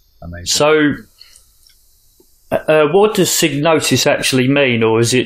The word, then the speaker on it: Psygnosis: interviews but in Hetherington always pronounce it sig notice not cyanosis hahaha I've had to take